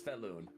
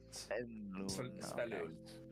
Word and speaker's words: Svelun: Pronunciation, it's Svelun. Balloon? Okay, so Svelun. Saloon. Like Sven, almost, Yeah. but like Svenloon.